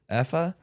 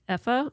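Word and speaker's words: Aoife: EA. A O I F E. So we're not used to pronouncing that.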